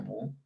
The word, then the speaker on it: mu: Se pronuncia mu.